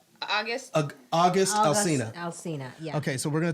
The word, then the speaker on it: Alsina: Alsina, yeah.